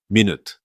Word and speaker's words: minute: Minute with the stress on the first syllable is the noun you already know.